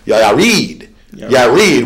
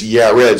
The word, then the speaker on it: Yared: And he had to retake it because he pronunciated my name Yared when it's Yared.